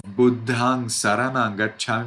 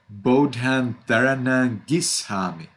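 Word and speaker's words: Buddhaṃ saraṇaṃ gacchāmi: Instead of Buddhang Saranang Gacchami, maybe your parents say Bodhan Taranang Gishami. It is correct. But it is correct in Myanmar.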